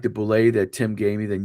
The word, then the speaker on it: boulet: It's a boulet. That's what the pin says on the top of it. It's pronounced boulet.